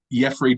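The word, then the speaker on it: Yefri: doing except yeah except Jeffrey Del Rosario his name is pronounced Jeffrey even though it says like Jeffrey so I assume that means it's pronounced Jeffrey even though it's y-e-f-r-i really yeah interesting so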